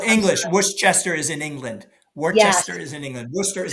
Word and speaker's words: Worcester: and raised there my grandparents Wester it's actually pronounced Worcester it's called English Worchester is in England Worchester is in England Worcester